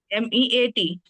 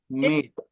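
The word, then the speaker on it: met: M-E-A-T. नाही, ma'am. हाँ, तेच M-E-T. तेच लिहिलंय सर. मेट. काय लिहिलंय तुम्ही? M-E-T. M-E-T. Right. The pronunciation of the word is mate, not meat.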